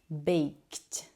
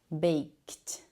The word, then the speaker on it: baked: all right last one this one you should pronounce with a t sound t t because we have the k sound sound which is voiceless right before the EG so baked baked with a t sound